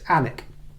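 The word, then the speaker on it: Alnwick: barter books in anic anic is spelled a l n w i c k in case you go Googling it but the the L and the W are silent so it's anic a Book Lovers idea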